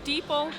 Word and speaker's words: Deepal: Deepal. Deepal rhymes with people.